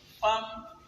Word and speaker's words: femme: Femme, il s'écrit F-E-2-M-E, qu'on ne lit pas femme ou femme. On aurait pu écrire avec A.